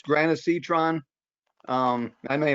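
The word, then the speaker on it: granisetron: uh jake go ahead what's it called it's granacitron um that may not be the right way to pronounce the g-r-a-n hang on let me get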